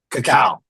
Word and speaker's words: cacao: not a coffee shop, but how do you pronounce it correctly? I'm Cacao. sorry. Cacao.